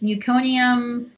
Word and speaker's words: meconium: child can be born with how do you pronounce that it's meconium thank you very married it was like all